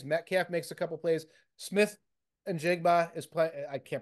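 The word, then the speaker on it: Smith-Njigba: Smith and Jigba is playing. I can't pronounce his name. You hit it. Smith and Jigba?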